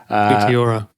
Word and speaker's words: Meteora: How do you pronounce it? Meteora.